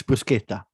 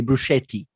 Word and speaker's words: bruschetta: It's bruschetta. Do not say bruschetti. Okay. I will come there and strangle you. Exactly what I was about to say. All right. No. All it's right. bruschetta.